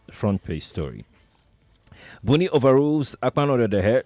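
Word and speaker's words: Akpanudoedehe: You brought back the chairman, but you knocked out the please pronounce his name. Acting Akpanodedehe. Akpanodedehe.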